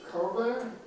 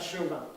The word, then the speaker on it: Cauvin: Do you pronounce it Cauvin? Yeah, it's not Chauvin. Chauvin. It's very similar. Oh yeah, every time people want to add an H to my name, I have to say Chauvin.